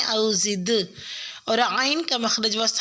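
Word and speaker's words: أَوْ زِدْ: انشاءاللہ۔ آیت نمبر 4 میں لفظ او زد علیہ میں دال ساکن پہ قلقلہ کریں، او زد، اور عین کا مخرج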